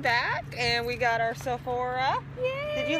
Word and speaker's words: Sephora: Okay, am I pronouncing this right? Why am I not pronouncing it right? Sephora. I'm sorry, I'm so new to all this. No, Sephora.